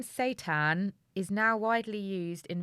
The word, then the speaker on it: seitan: coming in honestly it's the devil's meat satan that's quite bad satan that's it's not it's satiated maybe that's why they're pronouncing it station they've gone what should we